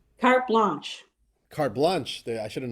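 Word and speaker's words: carte blanche: say it in English cart blank is that how you say it is that how you pronounce it cart blanch or blank it's a blanch cart blanch cart blanch I should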